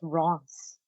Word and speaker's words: Reims: Ren? No, it's definitely pronounced Reims.